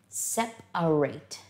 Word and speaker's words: separate: together, but they are separate. And the interesting thing about this word is that when we use the word as a verb, we pronounce the A in the middle, separate.